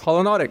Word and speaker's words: Holonautic: They are the creators of the Virtual Physics Hand Lab app from Holonautic. Is that how you say it? Holonautic. Yes, Holonautic, yeah.